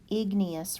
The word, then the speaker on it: igneous: is big whoops big me us again Gnaeus igneous rock and these are rocks that form when